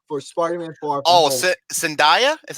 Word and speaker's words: Zendaya: don't die zendaya for Spartan and for all Sandhya is how you pronounce her name yeah she's uh she wasn't